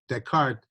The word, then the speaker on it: Descartes: Okay, so when you, it's really easy when you pronounce Descartes, just don't pronounce the S's and you'll be fine. Just ignore the S's in the word, then you'll be cool.